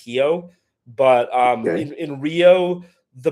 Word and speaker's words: Rio: Um, by the way, for just people interested, um, in in Portuguese, Rio is pronounced Hio.